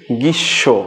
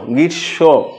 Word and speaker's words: গ্রীষ্ম: বাট গৃস উচ্চারণটা হচ্ছে সঠিক উচ্চারণ হচ্ছে গৃসব। গৃশ্য অর্থাৎ এখানে ম ফালার উচ্চারণটা নাই।